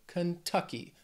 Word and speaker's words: Kentucky: state which is Kentucky this word has three syllables stress is on that second syllable Kentucky Kentucky the next date